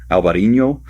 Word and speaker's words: Alvarinho: It's also grown in Portugal where it's called Alvarinho. Um it's pronounced just about the same just spelled a little bit differently.